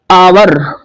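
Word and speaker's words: hour: Honest रहेगा और हम देखते हैं कुछ एग्जांपल आवर और इसका भी प्रोनाउंसिएशन बच्चों आ से प्रारंभ होता है नेक्स्ट एयर प्रारंभ एच से है बट इसका प्रोनाउंसिएशन ए से होता है।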